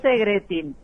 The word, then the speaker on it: Segretín: si tu apellido es Segretín o Segretin. Ni yo sé pronunciarlo, pero es Segretín. En el idioma original no lo puedo pronunciar, pero acá es Segretín.